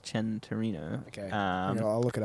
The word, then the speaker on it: Centenario: it's spelt sen santorino but it's um it's pronounced chen torino okay um i'll look it up centenario centenario sorry and um it's uh it's actually came out in uh 2016.